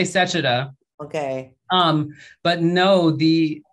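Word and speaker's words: Sechita: don't i never know i'm always like is it sashita sachita i'm not sure how to say it but we say sachita okay um but no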